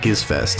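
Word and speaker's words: Gizzfest: and that is pronounced gives fest it's a hard G if you were to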